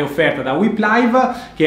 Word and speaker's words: Whip Live: Si legge Whip Live e si scrive WHIP Live, live, e potete utilizzare la funzione di live tracking proprio come avviene alla Dakar.